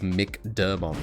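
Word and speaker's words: McDermott: If it's a consonant, it's pronounced like Mick. McAvoy versus Mick Dermont.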